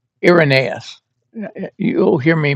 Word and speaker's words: Irenaeus: Irreaneous. Irenaeus. You'll hear me mispronounce more words, a lot of words if you ever uh listen to me for any length of time.